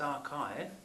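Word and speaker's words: arXiv: of Wikipedia and arts it should probably be pronounced archive which is hosted at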